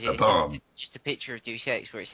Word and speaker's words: Deus Ex: It's actually pronounced Deus Ex, not Juice Ex.